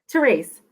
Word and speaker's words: Terese: say it wrong so Ally is it Ali theres theres awesome awesome so tell us about your new